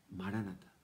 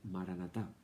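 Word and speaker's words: Maranatha: Maránata. O algunos dicen Maranatá. Depende de cómo lo pronunciemos. Palabras en arameo.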